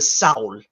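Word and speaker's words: sál: and then we have the Sal s-a-l the a has a dash over it so that's an owl sound it's the soul um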